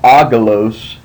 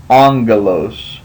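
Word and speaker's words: ἄγγελος: Gamma GMA Epsilon Lambda Omicron Sigma that is pronounced not aalos you see the two gamas and GMA makes a g sound like a g but this is actually pronounced angalo um and so when you have two gas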